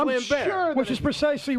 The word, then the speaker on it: Lambert: on me you know everybody calls him Lambert fair enough it might be he's French it's pronounced lamb sure which is precisely right